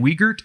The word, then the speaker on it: Wiegert: Did you pronounce her name Wiegert?